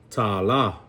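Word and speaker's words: tālā: Tala.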